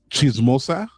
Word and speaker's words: chismosa: Chismosa? Did I pronounce it right? No, you said it right, but she said chismosa because she's the one with the chisme.